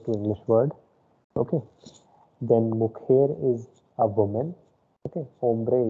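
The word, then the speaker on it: mujer: the third one here mukher is the pronunciation i told j is her pronunciation okay last one i'm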